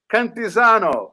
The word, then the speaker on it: Cantisano: So that's my cousin, and that's how you say my name, Cantisano.